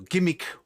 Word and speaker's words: G'MIC: this was uh well gimmick that's how i pronounce it um i don't know if others do it's g apostrophe m-i-c which uh to me g with a apostrophe anything that has a little apostrophe after it if it's a hot makes that sort of a hard letter so it's or would be how i would pronounce it anyhow i was